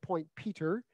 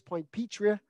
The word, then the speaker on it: Point Petrie: I got it stuck in my head early on that it was Ostrander and Point Peter, and many a local will say it's Point Petrie and Ostrander. So I'm trying to reteach myself to pronounce them in that way, and I'll continue to work on that.